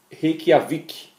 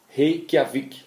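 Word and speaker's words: Reykjavík: Como é que se pronuncia essa cidade? Reykjavik. Reykjavik, na Islândia, 95 euros por dia.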